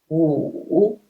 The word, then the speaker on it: 五: When we put W, in English we read it W, but in Chinese pinyin we read it wu, wu, initial wu and final wu. When we put them together, we just pronounce wu.